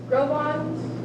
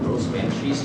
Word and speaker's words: Gros Ventre: Grobons? Assiniboine and Grobons? I do believe it is pronounced Cinnabon and Gros Ventres, Jana.